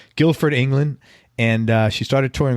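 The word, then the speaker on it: Guildford: i pronouncing that right yes because the D is silent yeah right Guilford England and she started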